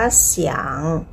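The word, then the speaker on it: 想: อียัง ตัว นี้ อียัง ยก ตัว อย่าง เช่น คำ ว่า เสียง เสียง ซี อี อัง เชียง เซียง เสียง เสียง เสียง แปล ว่า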